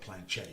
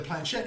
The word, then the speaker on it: planchette: And what we're talking about here, it's the Planchette, and I think that's the way it's pronounced. We're Americans, so we can call it Planchette if we want to. But yeah, the Planchette, and originally apparently it started off.